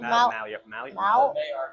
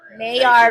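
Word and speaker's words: Maillard: The malard. Mayard Mayard reaction.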